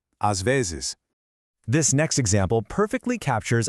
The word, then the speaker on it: às vezes: às vezes. It's technically two distinct words, but they really flow together as one single thought. às vezes.